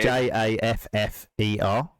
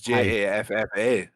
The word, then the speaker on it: Jaffa: J-A- Jaffer. No, it's not ER. Jaffer. Is it not? No, it's Jaffa.